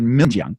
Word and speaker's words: Xinjiang: We're talking Xinjiang, right?